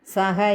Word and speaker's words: സൃ: സഹ യജ്ഞാ പ്രജാ സൃഷ്ട്വാ. സൃ ആണേ, സ്രായല്ല, സൃ.